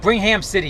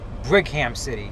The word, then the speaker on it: Brigham City: Brigham City, Utah. It's north of Salt Lake. Brigham City. Yeah, that's how you pronounce it.